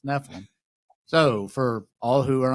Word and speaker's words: Nephilim: So Stephen's like, I think it's Nephilim, and I looked it up, and it's Nephilim.